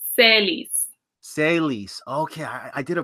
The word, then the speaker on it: Selys: Selys. It's like Ellie, but with an S. Selys? Say slower, kind of. Okay, so you take Ellie and then you add S's to the beginning and the end.